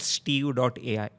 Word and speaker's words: Steve.ai: If you go for something called as Steve.ai, they...